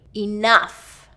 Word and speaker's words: enough: And that's always second syllable stress. And again, that or e can be either one. Enough or enough.